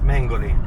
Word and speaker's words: Mengoli: We're in the car with Mengoli. That's how you say it, right? Hi, yes, Mengoli.